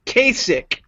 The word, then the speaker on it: Kasich: it up if you're gonna mention his name pronounced it right Kasich Kasich I know I don't give him I